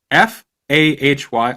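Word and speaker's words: Fahy: he of uh inner inner his company Greg Fay FHA y FH f a y I'm dyslexic so that's hard to read for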